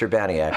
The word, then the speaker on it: Urbaniak: just non-stop since that before although it is pronounced Urbana yet which I thank you for the correct pronunciation